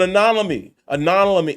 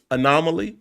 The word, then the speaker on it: anomaly: by it was an anony anony how you say that word I always pronounce it wrong anomaly there you go you have to slow down to say anomaly it was an anomaly